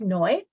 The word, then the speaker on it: Noi: My name is Noi, rhymes with joy, easiest way to remember that.